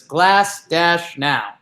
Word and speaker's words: Glasnow: The pronunciation on Baseball Reference says Glass-now.